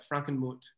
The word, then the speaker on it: Frankenmuth: I pronouncing it right Frankenmuth Franken mouth yeah I would we say Frankenmuth because we just americanize it but and the classic German it would be more like Franken mot H it's a German towns